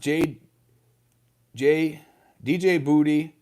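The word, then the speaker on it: Djibouti: Paul Austerhout says, it is pronounced DJ Boudy, and it'll be onward to Jerusalem.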